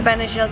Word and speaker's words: Benagil: of relaxing Beach days see the benagil caves that's how they're pronounced I learned that after